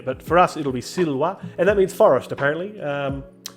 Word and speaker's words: silva: I think the classical pronunciation is anything that looks like a V is in fact a W sound, like the W in English. So I'll say silva in the classical Latin.